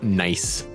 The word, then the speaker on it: gneiss: I was in middle school science class, and the teacher put up the word GNEISS up on the board and says, "Does anybody know how to pronounce this word?" And I said, "That is a nice rock."